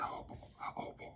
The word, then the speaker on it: jojoba: 5 drops of the jojoba oil. I hate saying it. And it's funny. I know it has a J here, but that's how it's pronounced.